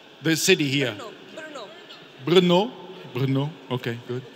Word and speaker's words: Brno: How is it pronounced? The city here. Brno. Brno? Brno.